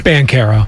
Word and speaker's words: Banchero: I don't care that Ben Caro banchero whichever way it pronounciation I don't care that he's good it's band Cara thank you and he's real